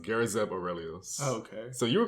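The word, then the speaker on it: Garazeb Orrelios: His full name is I believe it's pronounced Garazeb Aurelius.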